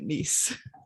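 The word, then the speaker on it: Nise: And now I'm saying it, Nice. It's N-I-S-E, Nice.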